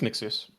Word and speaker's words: Mixius: Wait, I So, so I am saying it right? Hold on. Yeah, it's Mixius.